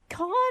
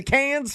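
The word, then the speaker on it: Cannes: But the pronunciation is it con or can? It's been driving me nuts my whole life and I've never been there. Yeah, it's can.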